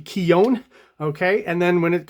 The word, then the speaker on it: Keown: of writing here uh I've been told in some of the comments that it should be keone okay and then when